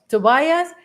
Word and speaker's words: Tobias: you pronounce tobias tobias tobias in espanol sounds like uh towels thank you a lot